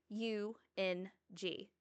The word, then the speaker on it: Eung: And I've noticed in the book, it's spelled e u n g, Ung.